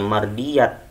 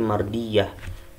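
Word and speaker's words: مرضية: Kalau tak marbutoh, ini namanya tak marbutoh, ketika di tanda wakof atau di akhir ayat kita bacanya bukannya mardiyat tapi mardiyah, harus dibaca menjadi huruf H, mardiyah.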